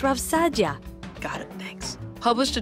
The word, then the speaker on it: Saadia: RAV Saadia for example it's pronounced RAV Sadia got it thanks published